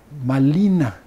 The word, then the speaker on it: Marina: Y a partir de Doña Marina pues así lo pronunciaban los los nahuas toalla malina y ahí viene malina malinali malintzin y de